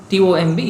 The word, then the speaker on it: tomb: C-O-M-B is pronounced as comb, like tomb, T-O-M-B is pronounced as tomb.